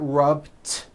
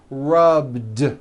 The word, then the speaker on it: rubbed: i rub yesterday i rubbed all i did was was add a voiced d sound at the end rub it's not rubbed with an unvoiced t it's rubbed like that here's another example clean